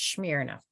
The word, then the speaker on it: Smyrna: I'm saying that right I actually Googled it say how do you say that and I'm pretty sure it's smear enough Pat has been uh